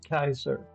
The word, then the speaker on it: Kaiser: But when it's spelled like that, the original spelling it's Kaiser because the uh the the emperors of Rome as in movies and so on.